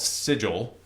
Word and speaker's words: Sigil: with Die Vecna Die, with Vecna is trying to invade Sigil, which should be called Sigil. Right, That's how you pronounce that word.